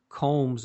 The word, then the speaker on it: Combs: Combs is spelled just like the thing that all of us use on our hair, or most of us used to.